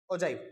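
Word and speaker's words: ogive: तो क्वेश्चन 25 में क्या रहा है, ड्रॉ एन ओजाइव, मैं ओजाइव बोलता हूँ भाई, आप ओगिव बोल लो या फिर जो मर्जी आपके मन करे वो बोल लो, मैं ओजाइव बोलता हूँ, जो मेरी प्रोनाउंसिएशन है वो ठीक है।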